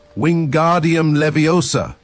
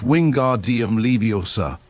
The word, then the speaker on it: Wingardium Leviosa: "Wingardium Leviosa!" he shouted, waving his long arms like a windmill. "You're saying it wrong," Harry heard Hermione snap. "It's Wingardium Leviosa. Make the gar nice and long."